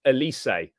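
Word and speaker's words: Élysée: phenomenal guys we really need that Elise is pronounced Elysee Fair as I was saying it do you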